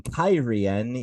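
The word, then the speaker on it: Cairhien: daughter of the Night chapter 37 fires in kyen yes that's apparently how that city is pronounced now and chapter 38 maidens of the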